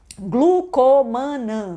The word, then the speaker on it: Glucomannan: Glucomannan, do jeito que eu falo. Só que se escreve o quê? Tem 2 N's.